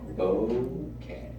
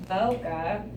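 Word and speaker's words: ボケ: The correct pronunciation of bokeh is bo like bone Irony. and ke like kettle.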